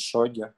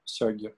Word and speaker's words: сёги: Блин, меня уже поправляли, как правильно говорить, шоги, сёги, по-моему, да?